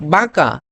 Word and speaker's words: বাঁকা: আচ্ছা, এরপরে হচ্ছে যেমন এই যে আমি এখানে তোমাকে বলি যে বাঁকা, এটার উচ্চারণ কি হবে? বাঁকা, বাঁকা। ঠিক আছে, এখানে একটা নয়ের নাক দিয়ে একটা উচ্চারিত হবে, বাঁকা।